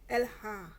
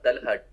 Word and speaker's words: Talha: Can you Alha. Oh, wait. Your pronunciation the your name is Elha. Alha. Talha.